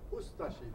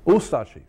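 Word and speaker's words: Ustaše: We pronounce it Ustashi. We pronounce the U and de-emphasize the Ashi. Ustashi. Ustashi.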